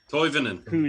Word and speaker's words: Tolvanen: Toivonen. That's how you say it. Now I get the chance to say it. Now I get a chance to give you correct European pronunciation.